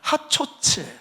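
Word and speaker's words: חצוצרה: 하나는 전쟁할 때 쓰는 나팔이 하초츠예요. 하초츠.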